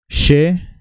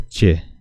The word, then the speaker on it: che: os va entrenando She She se pronuncia de esta manera She como si fuera con sh h no confundan porque para los que hablan español la letra ch se pronuncia Che pero no es Che se pronuncia She Porque después vamos a